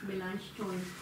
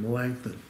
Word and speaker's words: Melanchthon: Melanchthon. There we go. And how did you learn it? Melanchthon. Okay. So, we were taught at the seminary just the anglicized version, Melanchthon, which is not auf Deutsch.